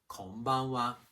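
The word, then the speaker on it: こんばんは: Konbanwa. The pitch accent pattern is similar to that of konnichiwa.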